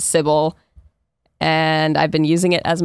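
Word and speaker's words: Cibele: And this is the spelling she used, and she pronounced it Sybil.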